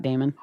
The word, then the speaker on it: Daymond: And my name is spelled Damon, but like Raymond with a D.